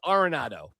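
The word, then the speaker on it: Arenado: Do you remember when we all had to figure out how to say Nolan Aronado's last name? Because we were saying Aronado and we all like, "Oh no, it's Aronado."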